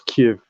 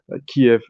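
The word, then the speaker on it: Kyiv: So it's important that we pronounce Kiev as Kiev. Kiev apparently as that is what the Ukrainians prefer.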